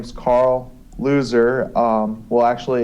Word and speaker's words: Loser: well like I said my name is Carl loser um well actually it's pretty it's actually pronounced losers a German last name but I you know